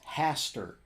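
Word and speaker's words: Hastur: no I can tell you the word it's Haster yeah the actual word is spelled h-a-s-t-u-r now according to the description this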